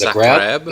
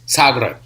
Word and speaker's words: Zagreb: So when I got to Croatia in Zagreb, which I learned to pronounce on the last day I was there, I thought it was Zagreb. It's Zagreb. Okay.